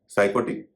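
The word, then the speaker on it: psychotic: नहीं हो रहा है साइकोटिक इसमें भी प का उरण नहीं हो रहा है एक और शब्द है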